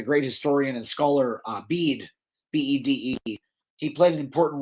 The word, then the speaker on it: Bede: Uh bead is his name. A lot of people think his name is Bedet actually because it it's sort of spelled the same way but it's it's pronounced bead.